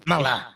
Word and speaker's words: Kamala: Now, if we pronounce it correctly, Kamala.